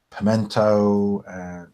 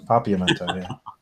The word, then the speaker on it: Papiamento: Like he's learning like Georgian and Hebrew and Pimento, Papiamento. How do you say that? Papiamento. That's the one, Papiamento.